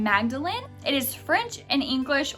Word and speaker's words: Magdalene: bring back i mean magdalen starts the same way magnolia does with that mag at the beginning but it also ends in lin but spelled magdalene l-e-n-e